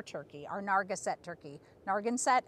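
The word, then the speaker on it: Narragansett: our narga set turkey nargin set i believe is how it's pronounced so they're really great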